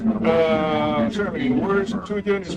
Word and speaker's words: Septuagint: Septuagint. Septuagint. You do want to stress on the first syllable.